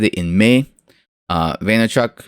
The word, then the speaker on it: Vaynerchuk: Vaynerchuk, right?